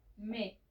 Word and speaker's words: mes: Y para plural se va a usar me. Sé que tiene una S, pero la S final no se pronuncia.